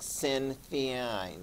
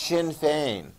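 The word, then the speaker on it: Sinn Féin: shin fein looks like sin theon or something like that yeah but you need to pronounce it the way they do in ireland it's pronounced shin fein okay and that's the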